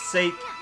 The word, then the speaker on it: sake: That's how you pronounce it. It's sake.